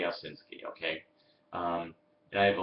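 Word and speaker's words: Owsinski: name is oh ausinsky and sorry I keep from this pronouncing your name all the time his name is osinski okay um I have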